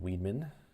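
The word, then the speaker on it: Weidman: It's pronounced Weedman.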